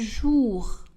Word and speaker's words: jours: Il marche tous les jours. Le S de pluriel du mot tout et jour ne sont pas prononcés.